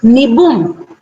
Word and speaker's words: Nibum: It's pronounced as Nibum. Okay, it's Nibum. So imagine I had not said Nibum and I had used, the Indian way of pronouncing.